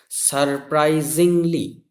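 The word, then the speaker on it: surprisingly: বাট কিন্তু, সারপ্রাইজিংলি, SUR, সার, PRI, প্রাই, SING, Singh, এখানে জিং হবে উচ্চারণটা, সারপ্রাইজিং, LY, সারপ্রাইজিংলি।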